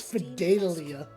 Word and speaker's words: Fidelia: Fidelia, my dear. I always say her name wrong. It's Fidelia.